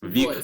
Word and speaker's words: Voyce: I think everyone's more comfortable with Steven, but it's Voyce. Voice. Voice with a star. The star is silent.